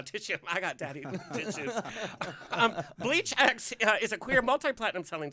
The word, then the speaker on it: BLEACHx: Please welcome BLEACHx. Yo, what's going on? Okay, what the hell is BLEACHx? Like, What is BLEACHx? Well, the X is silent.